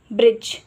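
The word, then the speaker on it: bridge: लिए डी जी ई डी जी ई हमेशा short vowel sound के बाद आता है इसीलिए डी का साउंड हम इसमें भी साइलेंट रखते हैं सिर्फ यह शॉर्ट वावेल के साउंड के बाद आता है जैसे कि ब्रिज तो लेटर आई का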